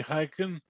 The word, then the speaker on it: Hikind: Hikind, did I pronounce it correctly? Got it. Okay, Hikind.